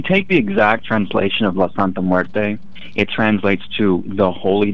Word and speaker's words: La Santa Muerte: So how did my pronunciation, La Santa Muerte, is that right? You actually pronounced that perfectly.